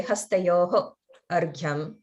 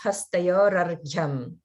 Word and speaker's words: Hastayor Arghyam: And again, with Hastayor Arghyam, a lot of people will say Hastayoho Arghyam. They'll break it apart. If you were to combine it, that's when it's Hastayor Arghyam.